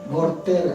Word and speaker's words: Voltaire: ¿Cómo se dice, Cristian? Voltaire. Él sí lo pronunció bien.